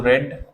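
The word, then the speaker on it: read: First form को हम रीड पढ़ते हैं, सेकंड फॉर्म को रेड, थर्ड फॉर्म को रेड, बट स्पेलिंग जो है सेम है तीनों की।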